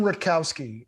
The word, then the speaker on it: Rutkowski: on this album uh am i pronouncing his name right ken rutowski rotkowski yeah ken rutkowski yeah how did you originally